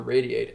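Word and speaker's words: RAYD8: Like after we launched the Radiate app, which is spelled R-A-Y-D-8, okay? After we launch the app, then I'm going to be working on developing a commercial version for Radiate itself so that people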